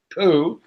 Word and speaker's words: Phuket: How do you pronounce it? Phuket.